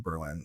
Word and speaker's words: Berlin: I want to at least spend a few days in Berlin." So, or Berlin, as Berliners say, with the emphasis on the first syllable.